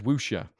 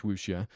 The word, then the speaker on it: wuxia: to be useful either way is what is wusha and another word i might not be saying